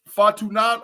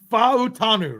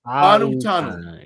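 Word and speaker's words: Fautanu: Fa'utanu, right? Fa'utanu. Yeah. I said it, but he said it again in the podcast. Yeah. Pronounce all the vowels.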